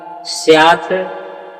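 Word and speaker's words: स्यात्: उच्चारण क्या करते हैं यहां उच्चारण आप करते हैं स्या जनार्दन और इस तरह से ऐसा उच्चारण नहीं होगा यहां पर उच्चारण होगा स्यात जनार्दन यहां संधि विच्छेद आप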